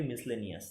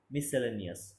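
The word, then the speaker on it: miscellaneous: Next রয়েছে কি, এর উচ্চারণটা কী হবে, আমরা কি বলি, মিসলেনিয়াস, তাই তো, কিন্তু মিসলেনিয়াস না, মিসসেলেনিয়াস, মিসসেলেনিয়াস।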